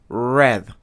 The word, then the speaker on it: read: Read no cambia su escritura en pasado, pero se pronuncia read.